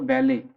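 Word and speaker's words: ballet: Manager और director of अ बैले, इसमें T silent है, रिमेंबर टी क्या है, इसमें साइलेंट है, टी नहीं पढ़ेंगे, बैलेट नहीं पढ़ेंगे।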